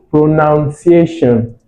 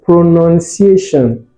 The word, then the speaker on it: pronunciation: You'd say pronunciation, but it's actually pronunciation.